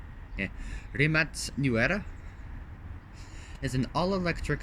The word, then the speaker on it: Rimac: all right rimac Nevada so the Remake never pronounced rimats New Era is an all-electric hyper car designed